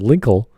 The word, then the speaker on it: Linkle: was a name lengthy it rhymes with twinkle twinkle little star it's perfect there you